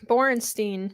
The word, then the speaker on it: Borenstein: on yeah I wanted to add that uh borenstein right that's the right pronunciation of his name uh at the AP